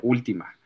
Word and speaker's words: última: Fíjate, la palabra última es es esdrújula. Lleva el acento en la primera letra, en la U. Último, última.